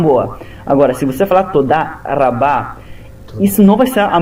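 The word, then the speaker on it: תודה רבה: Vamos pegar, por exemplo, a palavra Todá Rabá. Todá Rabá significa muito obrigado. Se você pronunciar Todá Rabá, se você falar com R de português, som de R, você é capaz de não ser entendido, porque um israelense iria associar som de R com rei, que é outra letra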